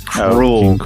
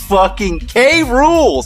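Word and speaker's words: K. Rool: fan fiction world because he pronounced King K rule as cruel what a K rule say it with me say okay and say rule cruel it's all right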